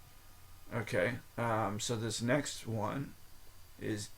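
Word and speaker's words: eau: um so this next one is E auau just like the example that's a word in itself and it's pronounced o like o de toet toet toet o de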